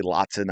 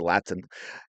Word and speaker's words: Latson: right so lot Laten I always want to say Latson I know she pronounced it Latin didn't get a single